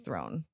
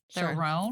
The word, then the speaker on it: Theron: Charlize Theron. Throne?